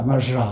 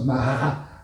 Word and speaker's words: Maja: C'est c'est pas maja hein. Ça se prononce Mara Maravestida et Maraondra.